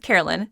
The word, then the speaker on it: Caroline: So Caroline, it's pronounced Caroline, spelled Caroline.